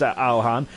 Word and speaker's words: Alhan: And I think I've actually tried to I've actually read the way to pronounce his name. It is Alhan.